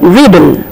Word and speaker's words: riddle: And then riddle, double D is here, but we pronounce single D.